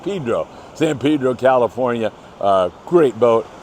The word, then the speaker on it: San Pedro: Throw that in there for you guys that want it pronounced Pedro.